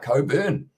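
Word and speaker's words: Cockburn: And I said there's a whiskey called Cobain that's pronounced Coburn.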